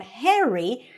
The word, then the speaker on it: Harry: And the word Harry, or the name Harry, is pronounced a little bit with an eh sound, Harry.